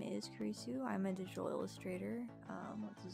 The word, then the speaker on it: Kurisu: But he kept pronouncing Kurisu as Curious.